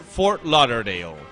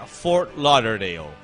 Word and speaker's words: Fort Lauderdale: Burger King For l no no l no Fort luderdale no for l tengo es Fort Lauderdale laudale pero se pronuncia Fort Lauderdale no que esale como ten que terminar carito